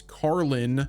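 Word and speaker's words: Karlín: Now, like I mentioned before, filming has been taking place in Prague's, I believe the pronunciation is Karlin, in that neighborhood, with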